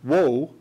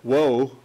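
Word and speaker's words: Juh: Geronimo sensed what was going on, and what Geronimo did, he and his best friend, Woe, that's spelled J-U-H, by the way, Woe, what they did was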